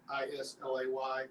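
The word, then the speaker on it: Islay: And where it comes from, spelled I-S-L-A-Y, but it's pronounced Isla.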